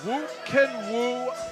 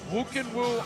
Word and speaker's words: Khuukhenkhuu: You see the Mongolian flag being held up as Khuukhenkhuu Amartuvshin. Say that 3 times fast. That one is a tongue twister. Doesn't look like Khuukhenkhuu at all, but that's how you pronounce it. Khuukhenkhuu Amartuvshin fighting for the first time ever in